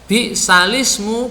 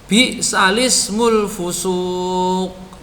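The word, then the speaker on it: بئس الاسم: Hati-hati, itu membacanya bukan bi'sal ismu ya, dibacanya bi'salismul fusuq atau alismul fusuqu ba'dal iman, gitu caranya ya.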